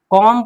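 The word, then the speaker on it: comb: कॉम पढ़ते हैं, कॉम्ब नहीं, कॉम।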